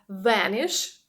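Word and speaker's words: Vanish: так називається тому що дієслово venish Саме так воно читається англійською мовою це зникати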